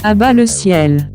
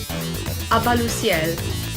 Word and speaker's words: À-bas-le-ciel: Does anybody know how to pronounce his YouTube channel? À-bas-le-ciel.